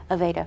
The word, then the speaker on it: Aveda: Aveda products. Yes. Is it Aveda? Aveda. Did I pronounce it right? You did.